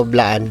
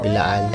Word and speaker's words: Blaan: ay isang blaan blaan Ano ang tamang pronunciation ng ano bilaan o blaan BL bilaan po bilaan blaan bilaan pure blaan Ah okay dito ka